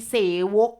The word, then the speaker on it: เสวก: ว่า บท เสภา สามัคคคี เสวก ค่ะ ต้อง อ่าน ออก เสียง 2 พยา ว่า เสวก นะ คะ อ่าน ออก เสียง